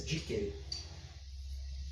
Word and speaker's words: dicere: Algumas pessoas pronunciam de forma diferente. Mas a pronúncia chamada restaurada, que é a pronúncia dos povos, do povo que falava o latim, que era o povo romano, a pronúncia oficial é essa, dicere.